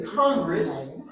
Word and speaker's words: Congress: yeah where does the Congress so this word the accent is on the first syllable Converse where does the